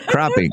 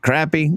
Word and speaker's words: crappie: In Ohio we call them crappie, right? Crappie. Crappie is the right pronunciation, but crappy that's that's said more than more than you know.